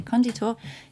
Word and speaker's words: conditor: So conditor, or conditor, I should say, conditor is the word for a builder or founder or creator. And the emphasis should be on the first syllable, conditor.